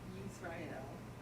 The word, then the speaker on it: Yisrael: Yeah, when you pronounce the Hebrew, say Israel, yes. Israel. The nation of Israel or the people, good. Okay, O. Ashley? Sue? I meant sewer, sorry. Good. Uh-huh, Sewer, Yisrael. uh-huh.